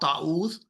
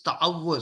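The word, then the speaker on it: تعوذ: It's not ta'awuz, it's ta'awwuz. So ta, ain, wow, you stop there, and it's like this. So typically, I ask students to loudly say out these words. Ta'awwuz, ta'awwuz.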